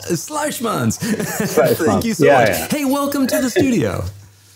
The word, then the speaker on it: Sluijsmans: You're going to help me out with the pronunciation of that last name. Sluijsmans. Sluijsmans.